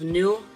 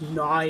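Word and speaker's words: Naue: Next up, we got a Rec Rev New, N-A-U-E, pronounced new. I thought it was Nai or some crap like that.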